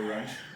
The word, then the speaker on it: Runge: Okay, Runge. we're here for the Runge, the hard German last name. Runge. That's how they pronounce it.